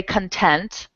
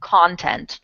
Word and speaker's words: content: then we'll close so you could say content like I am content I'm happy or content like the content of this website is amazing so content and content are spelled the same way but they are pronounced completely differently mm-hmm so pretty interesting